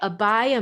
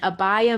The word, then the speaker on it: abhaya: peacefulness that's created by abaya mudra and abbaya mudra is spelled a b h a y a abhaya mudra and abhaya